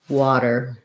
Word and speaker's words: water: about that ah otter water so the t is a flap because it's between two vowels and it doesn't start a stressed syllable if you have trouble